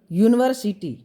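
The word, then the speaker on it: university: जैसे हम उच्चारण करते हैं यूनिवर्सिटी, जब बोलते हैं यूनिवर्सिटी तो हमें क्या साउंड सुनाई देता है? य, यानी कॉन्सोनेंट। इसलिए यहाँ क्या यूज होगा?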